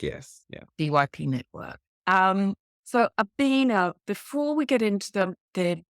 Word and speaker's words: Obinna: have I pronounced that correctly? Completely fine, Belinda. Obinna.